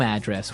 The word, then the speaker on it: address: So different from your home address where you live. Yeah. And there the stress is on the first syllable. Address.